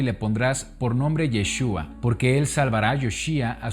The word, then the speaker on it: Yeshua: de origen hebreo y se pronuncia yeshua Qué significa Salvador o el salvará yeshua se escucha muy diferente a la manera en la que pronunciamos Jesús el día de hoy